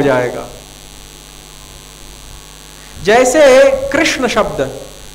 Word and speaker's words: कृष्ण: मान लिया देखने में और उच्चारण करने में कृषणा कृषणा में क का और ऋ का अलग से पृथक पृथक उच्चारण नहीं है संयुक्त उच्चारण है तो उच्चारण में जो